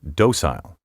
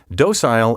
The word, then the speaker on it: docile: Occasionally, you may hear docile pronounced docile. Docile is the preference of British and Canadian speakers. The preferred American pronunciation is docile.